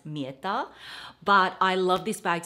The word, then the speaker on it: Mirta: actually got this from murta or I think in Italian pronunciation it should be pronounced mirta but I love this